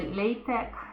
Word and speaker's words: LaTeX: Então, LaTeX, na verdade, se pronuncia LaTeX, é outra linguagem de